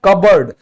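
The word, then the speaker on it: cupboard: फिर है कबर्ड, तो यहां पर आप देख रहे हैं ना तो आगे वाला कुछ रूल है ना पीछे वाला, फिर भी ये क्या है हमारा, साइलेंट है।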